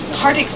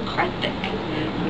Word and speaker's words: Kartik: I pronounced Kartik's name Kartik, because I worked with a guy named Kartik that I had a huge crush on. And so that's how he pronounced his name. And I'd had quite a few Indian readers who'd written in and said it's actually Karthik. But the sort of Americanized version of that becomes Kartik, because the TH sound becomes like a T.